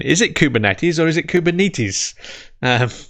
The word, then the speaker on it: Kubernetes: and uh the the the greek people that i've spoken to about this pronounce it kubernetes so uh we should probably listen to the greeks i i think given